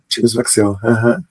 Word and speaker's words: James McSill: James, eu pronunciei corretamente o seu nome, James Maxill? James Maxill, Ele é de origem escocesa.